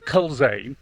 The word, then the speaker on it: Culzean: All right, but it's spelled Culzean.